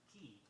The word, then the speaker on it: quay: Note the spelling, Q-U-A-Y, and the pronunciation, key.